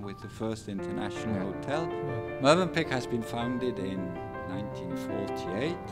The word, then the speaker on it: Mövenpick: As I just learned that we pronounce Mövenpick, correct? Mövenpick.